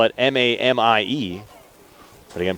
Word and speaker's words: Mamie: You spell it M-A-M-I-E, but again, pronounced Mamie. Amy like Jamie.